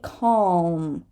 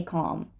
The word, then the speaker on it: calm: don't say it so some people say calm calm right the dark L is there some people say calm calm right some people